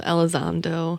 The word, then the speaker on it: Elizondo: I've seen, I can never remember how to pronounce his name. Is it Lou Elizondo?